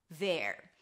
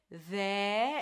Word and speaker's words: there: A TH sound, th, then an E, so drop your jaw a little bit, there, and then at the end you bring the tongue up for the R.